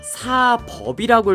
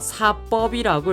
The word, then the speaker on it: 사법: 우선 사법이라고 읽으시면 안 되고요. 사법이라고 읽으셔야 됩니다.